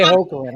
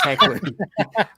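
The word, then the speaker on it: Hoechlin: Chris, okay, I say Hoagland. I say Hoagland. It's Heckland.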